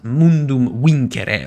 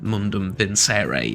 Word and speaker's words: Mundum Vincere: Rome I'm using is mundum win or mundum vinere if you whichever pronunciation you you prefer but I believe the most period accurate one would be mundum win um with that sort